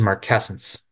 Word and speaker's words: marcescence: Okay, so I think the way you pronounce that, Lauren, is marcescence.